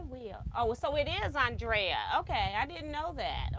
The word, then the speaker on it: Andrea: No, you pronounced his name correct. Thank you. Yes, I will. Oh, so it is Andrea.